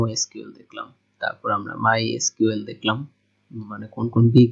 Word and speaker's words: MySQL: সো উইকিপিডিয়াতে যদি আপনি দেখেন যে আসলে এটার উচ্চারণ কিন্তু মাই এসকিউএল, like my এসকিউএল। সো অনেকেই মাই সিকুয়েলও বলে, আর I think my sequel my এসকিউএল